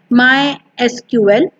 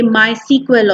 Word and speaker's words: MySQL: Officially, it is pronounced as MySQL, but many a times people say MySQL also.